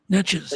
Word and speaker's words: Neches: head to the cooler outflow that's interesting um net cheese and how do you say that Neches River Natchez yeah yeah there are a lot of rivers